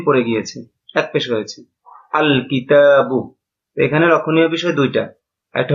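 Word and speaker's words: الكتاب: আল কিতাবু। এখানে লামটা উচ্চারিত হচ্ছে। লামটা এখানে উচ্চারিত হচ্ছে।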